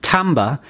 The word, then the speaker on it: timbre: This next musical element, pronounced timbre, is the tone colour of music.